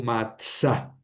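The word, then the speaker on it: מצא: Ese sería el verbo matsa. Matsa, ¿verdad? Esta esta ale final se debilita, se hace quiescente y entonces al largo la vocal anterior.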